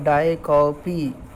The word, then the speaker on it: diacope: एक figure of speech है जिसे डाइकॉपी बोलते हैं, DIACOPE. इसका जो प्रोनाउंसिएशन है वो है डाइकॉपी.